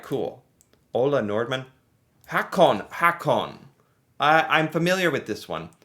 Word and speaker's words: Håkon: Hakon. I'm familiar with this one. Is it, or would it be pronounced Håkon? Håkon, I think? Because of Prince Håkon.